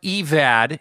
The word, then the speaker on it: Evad: Sullivan, and Kevin, but his name is pronounced Evad, and he's briefly a